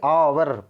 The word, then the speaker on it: hour: कोई मतलब नहीं है क्योंकि एच साइलेंट हो गया, यानी कि आवर पर जो साउंड निकलता है ना, साउंड पे निर्भर करता है कि एन लगेगा कि ए लगेगा, ठीक है।